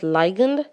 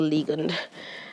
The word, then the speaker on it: ligand: to as a ligand some people like to pronounce that as ligand but it really is a ligand um a ligand is